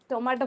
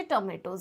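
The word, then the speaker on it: tomatoes: थिबे टमाटो है ना टमाटो पढ़ी थिबे किंतु टमाटो नुह जदि आपण करेक्ट प्रोनाउंसिएशन देखिबे तो सेटा होची टोमेटोज.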